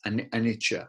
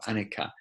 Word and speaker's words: anicca: The first one is anicca or anicca, can be pronounced in different ways. I think it's from the Pali originally.